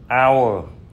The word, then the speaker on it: hour: Vì hát câm nên cái âm đầu của những chữ này là O. Và vì O là nguyên âm nên chúng ta phải dùng mạo từ ân trước những chữ này nha các bạn.